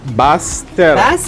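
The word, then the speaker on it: Basse-Terre: It's pronounced Bastella. Baster.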